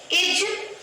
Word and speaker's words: is: इसे हम प्रोनाउंस करते हैं इज़। ध्यान रखिएगा ज के नीचे बिंदी है। क्या बोलेंगे? ज इसे हम इज इज नहीं बोलेंगे। ठीक है? इसे हम बोलेंगे इज।